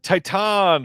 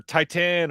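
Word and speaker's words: Titane: uh Titan or Titan or Titan or however uh you you're supposed to pronounce this. I believe it's Titan.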